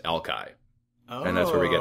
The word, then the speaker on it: Alki: little while and Alki has later been anglicized is now pronounced Alki and that's where we